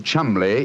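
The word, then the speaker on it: Cholmondeley: Being an American, he had no reason to know that the name Chuml is in no way pronounced the way it is spelled.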